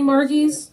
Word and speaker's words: Margie: do like to me if your name is Margaret um you shorten it it's Margie I don't know where she got the hard G from I don't know